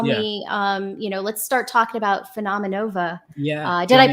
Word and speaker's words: Phenomenova: So let's kind of like segue a little bit and tell me, let's start talking about PHENOMENOVA. Yeah. Did I pronounce it right?